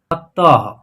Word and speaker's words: अतः: इसका उच्चारण जो है, इस बिंदी का उच्चारण ह के रूप में होगा, जिसे हम बता दें आपको उच्चारण करके अ त अह की मात्रा जो है इसका उच्चारण होगा ह, अतः।